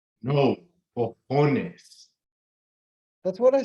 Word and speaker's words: cojones: Nah, you keep pronouncing the j, bro. Don't do that. You gotta clear your throat a little bit on the ho part.